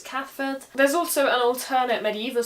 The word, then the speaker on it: Cathbad: As an example, the name Cathford is spelt with a B in the middle, Cathbad. But that B becomes a V, so it's Cathford.